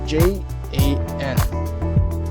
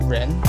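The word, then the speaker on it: 人: I was completely wrong and it was actually j a n so keep in mind this j a n not y-a-n and in Mandarin you can actually pronounce this as ren so it's going to be r e n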